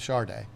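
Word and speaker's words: Sade: Yeah, I know she spelled it S-A-D-E, but that's how she spelled it. That's how she pronounced it was Charday.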